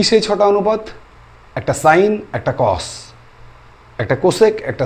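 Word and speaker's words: sine: অনুপাত সম্পর্কে জানবো কি সেই ছটা অনুপাত একটা সাইন একটা কস একটা কোসেক একটা সেক একটা টান একটা কট সাইন কস কোসেক সেক টান কট সাইন কস কোসেক সেক টান কট এই ছটা স্তম্ভের উপরে কিন্তু গোটা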